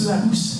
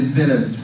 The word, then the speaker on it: Zealous: Donc, on va accueillir les œufs à mousse, c'est ça? C'est ça. Les œufs à mousse, je me prononce bien? Je crois que c'est les Zealous. Ah oui, pardon, on va accueillir les Zealous pour une petite scénette.